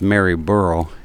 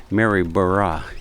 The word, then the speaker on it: Maryborough: be careful with that pronunciation because I would pronounce it as Mary burrow and b r o u g h but apparently it's burah so Mary Mary burah is the uh is how you pronounce it